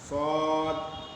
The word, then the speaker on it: صاد: سے لکھا ہوا ہے، صاد کھینچ کے پڑھیں گے، یعنی صرف صاد نہیں پڑھیں گے بلکہ صاد الف مد زبر سا دال ساکن